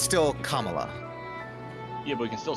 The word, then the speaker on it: Kamala: One, it's Kamala, not Camala.